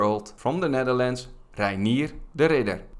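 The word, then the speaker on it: de Ridder: from the Netherlands rir the Ridder that's how you say his name in Dutch R the Ridder is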